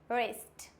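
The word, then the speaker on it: wrist: W silent कब होता है? आर से पहले डब्ल्यू साइलेंट होता है। आर से भी पहले अगर डब्ल्यू आ रहा है, इट मीन्स ये हो जाएगा silent. For example wrong, राइट, वो राइट नहीं होता है, it means राइट। Rap, wrapper, wrinkle, रिस्ट।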